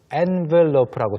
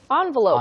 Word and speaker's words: envelope: Both are fine. Yeah. Both are correct. Envelope, envelope. N과 on의 차이입니다. Envelope.